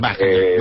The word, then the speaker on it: Wagner: Yo le digo Wagener, ella sí misma se dice Wagener, otros le dicen Wagener, en fin. Wagner, vale. Nos quedamos con Wagner para que cuando vengáis ya sepamos cómo se pronuncia, ¿vale?